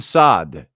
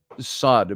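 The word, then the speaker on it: Saad: friend uh uh um sad Muhammad sad and uh um I'm sorry M sad who came on the show Once and was listening about a year ago spelled the same way s a a d and uh he's Egyptian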